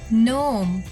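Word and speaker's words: knee: नहीं आर वाई ए सी एच टी याद नोम castle आईल nest psychology power plum muscle Wednesday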